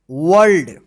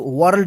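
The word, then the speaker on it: world: speak to us this वर्ल्ड इसको वर्ल्ड मत पढ़िए वर्ल्ड पढ़ेंगे आर जो है साइलेंट रहता है वर्ल्ड इ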